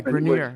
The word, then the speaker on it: Grenier: Well, also sort of, there's the, I guess it's Robert Grenier. Is that how you say his name? Yeah, Grenier.